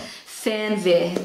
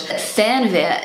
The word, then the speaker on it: Fernweh: This word is actually really hard for native English speakers to pronounce. I'm going to do my best. Come on. Fernweh.